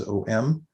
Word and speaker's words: om: add that you know it's spelled normally om it's actually a um but because of the sunday rules in sanskrit the way that you um blend syllables together it comes out as om but if you just